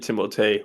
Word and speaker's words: Timothée: What an interesting start for Timothy Chalamet. I already fucked up. Timothée.